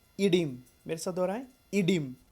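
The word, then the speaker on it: oedema: देखना, इसमें ध्यान देना, इस शब्द में ओ और ए, जो पहला लेटर है ओ और सबसे लास्ट लेटर ए, दोनों साइलेंट है, इसलिए हम लोग इसको क्या बोलते हैं? इडिम।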